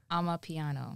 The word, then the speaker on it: Amapiano: How do you pronounce it again? Amapiano.